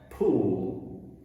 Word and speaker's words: pool: y'alls pool pool and that's a really tricky word for uh a lot of brazilians because again uh when an l is at the end of a syllable in portuguese uh it sounds like ooh in portuguese so people say pood but you don't want to say poo because this kind of means well some yeah kind